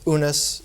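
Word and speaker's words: Unas: not occur until the pyramid of venice or unes as used to be pronounced and the following six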